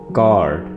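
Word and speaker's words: chord: कार्ड, कार्ड राग, यहाँ पे आप समझ लें कि एच नहीं है, आपने एच को साइलेंट रखना है और ये वर्ड बना है कार्ड।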